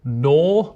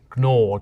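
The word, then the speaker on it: gnaw: They'd say knicht, or they would pronounce the G at the start of nor. They'd say gnor.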